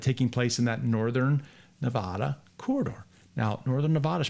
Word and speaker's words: Nevada: And I'm getting told in the chat, it's pronounced Nevada. Nevada. I should write that down because this is one I struggle with. Nevada.